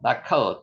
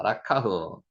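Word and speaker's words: לקח: 드러내신다서 1장 10절 말씀입니다 단어 하 그죠 들다 라카흐 따도 카입니다 라카흐 지난번에 그 공부했는가 모 발음하는 거 모르시면 다시 한번 지난 강의 한번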